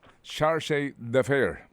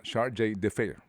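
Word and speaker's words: chargé d'affaires: no Dito po kay Shar de fair Actually pupwede mo ring banggitin yan na shj de fair All right o Depende kung saan ka komportable na pagbibigkas dito po sa salitang ito na Frances bas po sila ay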